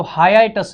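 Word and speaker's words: hiatus: अब इसको याद, मतलब इसका ना प्रोनाउंसिएशन थोड़ा सा अजीब है, ये हाई है और फिर ये ए है, तो हाइएटस इसको पढ़ते हैं, हाइटस नहीं पढ़ते हैं, हाइएटस पढ़ते हैं, ठीक है।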